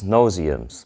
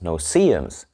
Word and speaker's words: no-see-ums: So I call these no-see-ums, but someone pointed out that they're actually pronounced no-see-ums, which makes a lot of sense because they're so small that you don't see them.